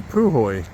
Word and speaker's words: Puhoi: All right, that's the Poy Hotel and Pub. All right, a little bit of the uh Poy town or Pu Hoy as we uh just learned it is pronounced.